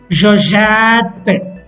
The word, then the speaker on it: j'achète: The pronunciation of the infinitive is acheter, acheter. But in the conjugation, the pronunciation becomes j'achète. After adding E grave accent,